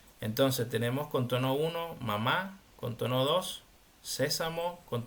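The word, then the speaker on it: 骂: no entonces el el el tono cuatro es un sonido así seco que tiene que caer seco e y rápido no Entonces con ma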